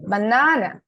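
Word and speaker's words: banana: ওকে তিনজন বললেন হ্যাঁ আমি উচ্চারণ করি এটা হচ্ছে বানানা এখন বলেন কি কি করলাম আমি একটা এখানে হচ্ছে তিনটা সিলেবল আছে তিনটা সিলেবল না বা না কিন্তু যখনই আমি মাঝে সিলেবলটা উচ্চারণ করলাম তখন লম্বা করে দিছি বা না না একটু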